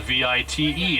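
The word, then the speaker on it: wyd: The Afrikaans word for wide is spelled V-I-T-E. It's pronounced vite, and it has been mistranslated.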